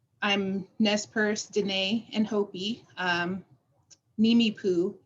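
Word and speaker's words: Nimiipuu: Nimi Poo is how you say it.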